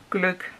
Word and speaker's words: gløgg: In Danish we just say gløgg. It's because we have some letters you don't have in many countries.